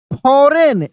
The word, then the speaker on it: foreign: बेन मेट अ फॉरेन FOREIGN फॉरेन, यानी जी यहां पर भी साइलेंट है।